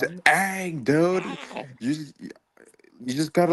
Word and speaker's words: Aang: Aang, dude. You just gotta like pronounce the name right.